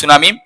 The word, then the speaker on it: tsunami: আমরা উচ্চারণ বলি উচ্চারণ পারে যদিও সুনামি কিন্তু উচ্চারণটি সুনামি তো সাইলেন্ট থাকবে এ উচ্চারণটা সুনামি হবে সুনামি